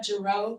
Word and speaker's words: Gereaux: Everyone's coming out for JRO rhymes with Trudeau.